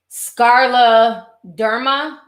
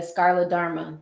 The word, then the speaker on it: scleroderma: Okay, so the disease is pronounced scleroderma. Okay, scleroderma.